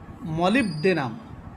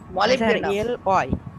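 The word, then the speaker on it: Molybdenum: DENEM, মলিবডেনাম, মলিবডেনাম। হ্যাঁ, উচ্চারণে মলিবডেনাম, মলিবডেনাম।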